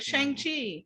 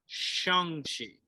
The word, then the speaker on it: Shang-Chi: it's not here because that's definitely how i pronounced it at first so i was like shang chi and then now i'm like oh sorry and then it was and then people thought it was shawn cheeks it's like no that's wrong too shongshi um